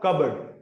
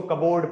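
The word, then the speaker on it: cupboard: कई लोग इसको कबोर्ड पढ़ देते हैं एंड ऑल। यहां से आर साउंड ड्रॉप किया गया है। रीज़न इसका ये है कि वोवेल साउंड्स के बाद जो आर आता है वो ड्रॉप किया जाता है। एंड it's pronounce कबर्ड।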